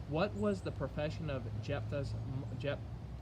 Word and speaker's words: Jephthah: the judges uh judge i think he's pronounced his name jephthah is how you pronounce his name what was his mother's